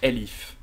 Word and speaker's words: elif: else if s'écrit elsif en python c'est LIF et donc là vous voyez que quand je l'écris bien sublime texte me le met en rouge rosé automatiquement donc là Elif c'est pour tester d'autres